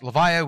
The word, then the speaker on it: Levia: for levia why and it is pronounced levia we have seen it in the in the the trailer now where they they say levia um why this